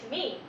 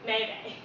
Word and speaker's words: meme: The correct way of pronouncing the word is meme. As we all know that it might be easy to mispronounce it, it's not Mimi or Mayday.